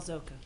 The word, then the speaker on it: Zoca: on my name is zoca thank you rhymes with polka um i'm here with